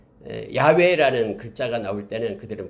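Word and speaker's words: 야웨: 아 여호와 라고 말하죠 이것을 네 글자를 합하면 은 야외에 라고 말합니다 야외 라고 발음합니다 내 her 배선은 어 하나님의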